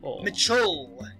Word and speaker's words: Mitchell: name is Mitchell still Mitch Mitchell y'know there's two syllables last less syllable really hard for some have a good night